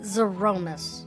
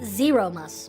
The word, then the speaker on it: Zeromus: may yet save ashdaya okay we're pronouncing it zaromas I always pronounce it zeromus but zaromas okay like Z Roman zeromus okay I've got it